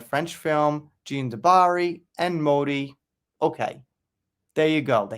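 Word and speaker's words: Modì: Festival where he premiered Modi starring Al Pacino. I'm finally saying it right. It's Modi, not Motti.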